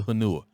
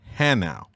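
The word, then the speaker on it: Hanau: where's the bus to hanua so they all kind of looked at each other like this blankets crazy and they was like soldier it is pronounced hannow and you missed your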